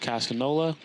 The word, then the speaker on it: Casino LA: It's Casino LA, but pronounced Casanola.